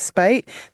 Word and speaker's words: Speight: Our pronunciation, of course, is Speight, to the extent that it did actually leave a mistake on one of the maps, which will also be discussed.